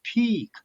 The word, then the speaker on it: peak: And another word, peak, a little longer. Yeah. Two a little longer. Peak, not the P-I-C-K, just the peak. Pick. P-E-E-K, peak. Yeah. In the a little difference for pronunciation.